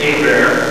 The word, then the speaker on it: Hebert: am right I okay okay uh I'm Kyle a bear just so people understand the last name is pronounced a bear like do a bear CRA in the wood